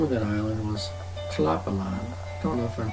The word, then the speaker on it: Tlapallan: island and the name of that island was Chilapalan. Don't know if I'm pronouncing it right.